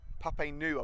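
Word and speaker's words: Giota Papainou: It's Papainu, I believe it is. So Giota Papainu.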